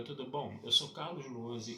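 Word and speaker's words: Lohse: Meu canal no YouTube é o Carlos Luozi. Luozi se escreve L-O-H-S-E, se escreve com Z.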